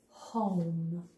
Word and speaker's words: home: Network Harry ran home home is one of those words where the silent e on the end of the word is bossy when it says oh you say you're me